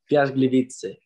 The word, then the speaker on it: Piast: PIAS Biliche. Entonces lo vamos a dar por bueno, ¿no? Lo vamos a dar por bueno. Puedes decir PIAS, déjalo con PIAS y ya está. Sí, PIAS. Fácil.